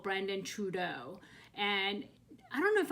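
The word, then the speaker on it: Truaxe: a person called brandon trudeau and i don't know if i'm pronouncing that right but it's spelled t-r-u-a-x-e so i guess that's true not trudeau i don't want to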